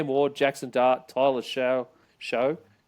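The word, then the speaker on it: Shough: K Mo Jackson Dart Tyler Sha show I think they pronounce it sha that's not even a pronunciation I would have thought would have happened there shuff Jaylen Milro Dylan Gabriel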